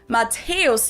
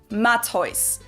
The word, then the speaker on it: Matthäus: mentioned the name Matthäus, where you'll find the same letter combination, but in this case, it's not considered a diphthong, but rather 2 separate syllables, so it's pronounced Matthäus here instead of Matthäus.